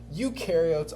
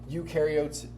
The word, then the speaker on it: eukaryotes: Eukaryotes do have a nucleus. So u rhymes with do, or u rhymes with true. So eukaryotes have a true nucleus.